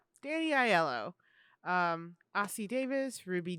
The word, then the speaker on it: Aiello: couldn't figure out how to pronounce his last name. I really couldn't. It kept throwing me off. I was like, Danny Aiello or Aiello? Aiello. Danny Aiello.